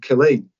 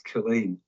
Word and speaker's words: Kain: reached in relation to Kain, which has been mispronounced throughout this inquiry, but it's Khain.